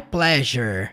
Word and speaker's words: pleasure: Você vai falar pleasure. Som de J lá no meio. Pleasure. É duas sílabas só, tá?